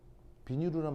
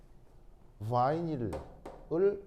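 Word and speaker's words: vinyl: 비니루라는 말 들어본 적 있어요? 그 비니루가 바이닐을 일본 사람들이 발음하는 거예요.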